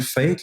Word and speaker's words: F8th: La dernière que je vais te parler, peut-être que tu n'as jamais entendu parler, on l'appelle Fate, là, mais ça s'écrit F8TH, là, par Jonathan Gagné, fondé en 2018.